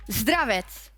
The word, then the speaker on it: Zdravets: And I was just checking, and I asked Yamato as well, how to pronounce Hilly's first name correctly. Zdravets.